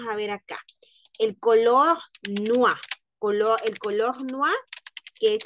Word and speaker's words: noir: Escuchen, noir, noir, noir. No pronunciamos la E, no pronunciamos la S. ¿Por qué? Porque la E al final cuando no está tildada es muda.